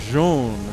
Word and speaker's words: Zoun: left i'm so excited i'm falling into the old pronunciation that is wrong it's jean all right well this